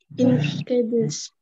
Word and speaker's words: incredulous: Rodriguez was incredulous. Incredulous. Incredulous. Incredulous. Ya. Ini D ini dibaca seperti huruf J ya.